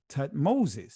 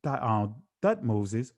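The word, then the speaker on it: Thutmose: It is a very common element in Egyptian uh theophoric names such as Tut uh excuse me, Thut Thut Moses, which is son of Thut.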